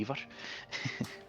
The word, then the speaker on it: Ivar: Or you call him Ivar, but his name was actually Ivar. Sorry, I couldn't hear you over the sound of pronouncing it incorrectly.